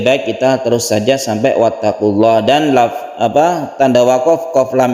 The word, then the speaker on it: واتقوا الله: Wattaqullah kita baca sebagai mad alif lisukun, ini dipanjangkan sampai 3 alif boleh.